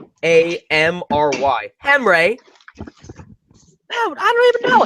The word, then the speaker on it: Henry: It's Hamry. Henry.